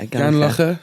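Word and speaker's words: Gurnos Estate: Yeah, Gurnosestate.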